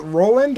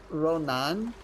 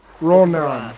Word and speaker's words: Ronan: Is it Roland or is it something else? Oh. Oh no! There goes your boat. I'm sorry. You're fine. It's Ronan. Ronan.